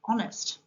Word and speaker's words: honest: H is the silent letter in the word honest.